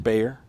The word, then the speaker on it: Bayer: a walk for Mr Bayer Mr bear I believe they call refer to it B A ye R but pronounced more like